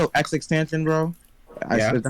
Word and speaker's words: XXXTentacion: Tentacion. XXXTentacion. That's how you say his name? Yeah, that's how you say it. Bro, I've been saying tension this whole time, but oh my god.